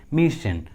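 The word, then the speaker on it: mission: इसके लिए ट्रिक है, यदि किसी इंग्लिश वर्ड्स में डबल एस के बाद ION या IA आता है, तो एस का उच्चारण श होता है, श। For example, मिशन, पैशन, सेशन।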